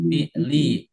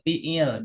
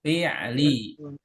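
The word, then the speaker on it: الفعلِ: Nah, perhatikan minal fi'li bukan jangan dibaca wal jumlah minal fi'il jangan begitu itu bahasa Indonesia ini bahasa Arab ya. Wal jumlatu minal fi'li.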